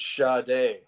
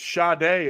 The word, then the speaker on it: Sade: pronounce that Virginia Sade apparently it's sha day yeah and it's sha day and even other people will actually throw in like the an extended R in there too I'll say it's